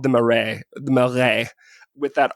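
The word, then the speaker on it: Marais: time but there is one neighborhood called the murray melre with that r in the middle that i can hardly ever pronounce correctly m a m-a-r-a-i-s so that is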